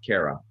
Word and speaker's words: Cairo: but it's pronounced Kara.